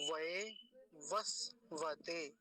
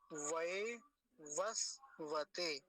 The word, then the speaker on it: वैवस्वत: प्रहर तरा अधे ऐसा बोलेंगे अगला शब्द देखिए वैवस्वत वैवस्वत पहला जो वकार है उस पर आकार की मात्रा है व वस वत फिर से देखिए व वस वत हो गया वैवस्वत वैवस्वत अगला शब्द देखेंगे मन